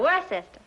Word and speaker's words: Worcester: But it's spelled W-O-R-C-E-S-T-E-R. Worcester.